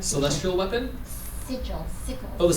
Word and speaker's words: sigil: What's the right pronunciation? Celestial weapon? Sigil. Oh, the sigils.